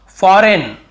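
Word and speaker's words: foreign: campaign cam pen campaign यहां पर भी जी साइलेंट है कैंपेन फॉरेन बहुत से लोग फॉरेन ऐसे पढ़ते मत याद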